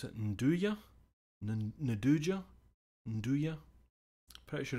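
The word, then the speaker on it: 'nduja: Both of the ones they do a nice one that's I never know how to pronounce it. Nduja? Nduja? Pretty sure it's Nduja.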